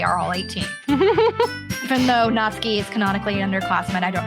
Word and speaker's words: Natsuki: that i've been saying natsuki natsuki natsuki yeah like you're not going skiing not ski ah that's got it